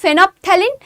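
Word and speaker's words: phenolphthalein: একটা হচ্ছে ফেনোপথ্যালিন। দেখো এখানে এল এর কিন্তু উচ্চারণ হবে না। এখানে এলটাকে বাদ দিয়ে উচ্চারণ করো। ফেনোপথ্যালিন আর একটা হচ্ছে মিথাইল অরেঞ্জ।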